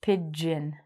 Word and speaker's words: pigeon: The pronunciation is it'd be like pigeon, like the drink.